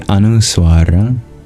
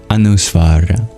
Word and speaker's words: anusvara: i g and you let the air vibrate purely in your nasal cavity that's the anusar so imagine bringing the main place of resonance into your nasal cavity and that's how you pronounce that M with a DOT under it the anos AL together when you have